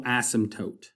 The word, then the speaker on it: asymptote: And then finally, we want to talk about this thing called a horizontal asymptote. And that's a funny word, pronounced asymptote.